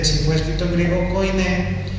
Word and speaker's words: koiné: Griego antiguo o koiné. Con K y con acento en la E. Koiné.